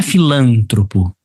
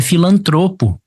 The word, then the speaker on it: filantropo: Por exemplo, a pronúncia da letra A não é filântropo, é filantropo. O correto ali é filantropo. E ele fala, onde não se cometeu silabada. Aqui se cometeu. Não é filântropo, é filantropo. Não tem esse acento aqui.